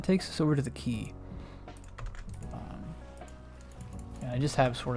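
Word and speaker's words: Quay: That is how you pronounce that, by the way. It's called the key.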